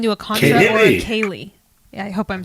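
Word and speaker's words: céilí: pronounce that word but apparently it's Irish and it's pronounced Kaye have you ever been to a contra or a Kaye yeah hope I'm saying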